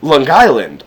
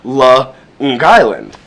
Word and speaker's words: Long Island: words Long Island however if you're from the island the way you would pronounce it is L Island almost as if it's two words L Island um which is almost like this which is supposedly an Italian influence like the idea of L Island